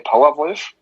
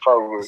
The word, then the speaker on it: Powerwolf: You can say Powerwolf. Yeah. It's perfect. German. Or you can pronounce it in English, Powerwolf.